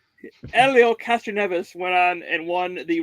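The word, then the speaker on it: Hélio Castroneves: some of you saw elio castroneves it's not helio like i thought it was last year when we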